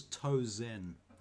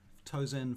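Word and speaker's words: Tozen: now his name is toe zen excuse me sorry a little bit too close to tarzan excuse me and it's not it's it rhymes with frozen toes in frozen thank you russell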